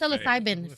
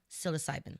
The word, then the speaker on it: psilocybin: No, That's psilocybin. Psilocybin. Psilocybin. Psilocybin, yeah. Oh. That doesn't even start with a P, but it does. Psilocybin. What's your name? Phil. Psilocybin.